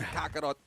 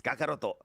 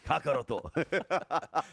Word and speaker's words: Kakaroto: Uh correct yourself, sir. It's Kakaroto. Okay. You got to say it. You got to say it like it's meant to be said. Kakaroto.